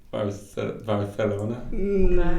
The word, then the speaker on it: Barcelona: pronounce it correctly for the... Barcelona.